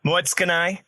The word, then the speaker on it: Moetsukanai: Moetsukanai. So the in between from the TSU, just you have to kind of run over it.